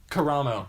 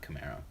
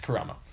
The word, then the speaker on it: Karamo: Karamo is how he's pronounced. Okay. So not Camaro. Yeah, it's Karamo.